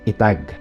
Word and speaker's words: etag: preserved first of all the word the tag or some pronounced as itak leans more on coming